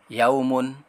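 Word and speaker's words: يَوْمٌ: Kemudian ada huruf ya berharokat fathah, waw berharokat sukun, huruf mim berharokat domatain ketika disambung, dan dibacanya adalah, perhatikan teman-teman, yaumun, yaumun, yaumun, yaumun.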